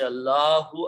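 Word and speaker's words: اللهُ: But when we pronounce these together, we do not pronounce this alif in between. Actually, we remove the alif altogether. So what is left is al lahu.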